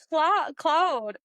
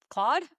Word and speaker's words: Claude: But Cloud Wait, CL Claude. Oh my gosh. Claude. Cloud. Cloud. Claude. Mr. Cloud himself. Why do I have such trouble pronouncing this name? Claude. Is that right?